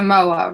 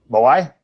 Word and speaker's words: moai: That's a moa, right? Oh. Moai? Yes. Okay, I said it wrong. That is a moai.